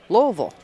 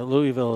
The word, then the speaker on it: Louisville: Yeah, Louisville is what people not from Kentucky call it. Or Louisville, depending on where you live at in the country. But if you're from Kentucky or the surrounding area, it's Louisville.